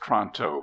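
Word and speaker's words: Toronto: gleamed but without Radiance Tonto pronounced tronto please is difficult to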